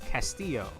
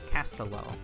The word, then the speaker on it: Castillo: It's Castillo. It's not Castello. Like, that's how I would prefer to pronounce it anyway, but you know.